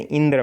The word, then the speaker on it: इंद्र: जैसे इंद्र में ई पर बालाघात हो रहा है, ठीक है, इंद्र।